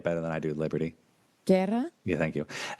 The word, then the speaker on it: Guerra: Guerra? Yeah, thank you. You roll your R's much better than I do.